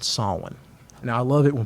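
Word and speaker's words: Samhain: They celebrated a holiday called Sawin.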